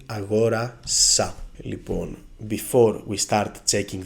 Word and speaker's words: αγόρασα: bought, you will say αγόρασα. Λοιπόν, before we start checking the word endings, it's very important to say that the stress on the simple past moves one syllable to the left, always.